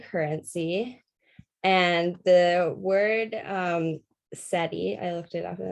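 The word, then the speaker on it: cedi: is the ghanian currency and the word um seti i looked it up and that's how you pronounce it was derived from the account word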